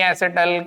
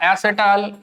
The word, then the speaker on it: एसिटल: Hemy एसिटल हो या एसिटाल, ये आपकी मर्जी है, आप इसे कैसे भी प्रोनाउंस कर सकते हैं। एसिटाल कह सकते हैं, एसिटल कह सकते हैं, और कीटल, हेमी कीटल, हेमी कीटल और कीटल इनटू रिस्पेक्टिव।